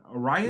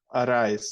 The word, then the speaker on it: Arraez: Arias? Luis Arraez, yeah.